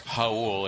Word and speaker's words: Raul: Again, it's Raul. It's spelled like the Spanish.